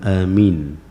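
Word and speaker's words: آمين: Dipanjangkan a-nya, dipendekkan minnya berbeda lagi. Amin. atau dipendekkan alifnya, mimnya dipanjangkan. Amin. Minimal minimal alifnya itu dua harakat.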